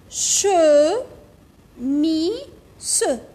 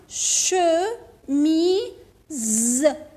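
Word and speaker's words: chemise: اون شو مي سو، سو نقول هنا سو، نقول اون شوميس، ابدا ما نقولوش شوميس، نقولو سمعوا مليحه شو مي ز، ز شوميز. عاودوا معايا شوميز، شو ميز. وعلاش قلت ز ما قلتش س؟ وعلاش؟ شوفوا اوب هاي ليك فويل، اوب هاي ليك فويل، جيرانها دو فويل تولي زا شوميز.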